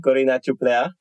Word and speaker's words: Corina Ciuplea: the Carol shimanovsky Music Academy in K welcome Kina Chupa thank you do I pronounce it correctly yes you did yes you're